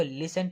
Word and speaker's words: listen: पहले तक ठीक है आपका साइलेंट है इसको लिसन पड़ते हैं लिस्ट और इसका मतलब